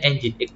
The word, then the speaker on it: Nginx: Pipeline grep spasi Nginx atau Nginx. Bacanya Nginx Pak Iki ya.